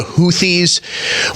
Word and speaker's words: Houthi: The Houthis, and I'm sorry, it's spelled Houthi. And I understand that it's pronounced Houthi.